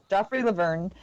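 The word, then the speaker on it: Joffrey Lauvergne: Joffrey Laverne, Brandon Paul, London Parates, and Derek White.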